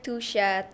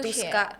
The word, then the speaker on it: Tusha: TikTok aku namanya Tusha, Tooscha. Tapi orang tuh sering mispronounce gitu loh, jadi Tuska. Oh. Benci banget. Dikira aku suka warna Tosca. Padahal tuh artinya Tusha gitu. Jadi spelling yang benar adalah Tusha.